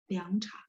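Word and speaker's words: 凉茶: Nah, tapi kalau misalnya dia di depan gitu ya, liang cha ini teman-teman pasti tahu, liang teh ya. Dia aslinya nada 2 ya, liang cha. Terus langsung kalau saya bacanya nada 2 aja, nggak apa-apa.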